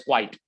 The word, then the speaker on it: quite: that's how we pronounce it this one is pronounced as quite quite so like for example i am quite